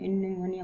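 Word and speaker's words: pneumonia: निमोनिया को हम लोग पहले पी इसमें साइलेंट रहता है, लेकिन हम लोग निमोनिया पढ़ते हैं।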